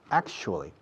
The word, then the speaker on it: actually: Al final, en realidad, actually. Pronunciación, ac, como actor, shoe, como zapato, actually.